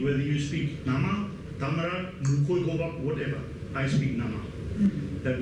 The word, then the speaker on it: Khoekhoegowab: Instead of, listen to my tone, instead of saying Khoekhoegowab, they would say Khoekhoegowab. This is the correct one. There are 4 tones in Khoekhoegowab. Khoe, just the second from bottom, that's the lowest one. But they pronounce it Khoe with the third from bottom. That means something totally different.